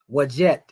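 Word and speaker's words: Wadjet: Wajet is pronounced DJ, you know, Wajet Sanan.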